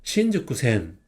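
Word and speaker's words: 新宿線: 한자를 분석해보면 이거는 세신, 이거는 잘수 해서 세신은 음독으로 신이라고 읽어요. 똑같죠? 잘수도 음독으로 슈구. 똑같죠? 한국어랑. 그래서 근데 슈구가 이 타그마가 돼서 주구가 돼요. 그래서 신주구라고 있습니다. 한번 따라 읽어볼게요. 신주쿠센.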